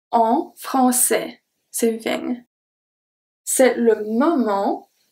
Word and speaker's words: français: So the CCD is pronounced as a S always. And then we have A-I-S that makes the sound E. We just saw that with mais. It's the same thing. A-I-S makes the sound E. En français.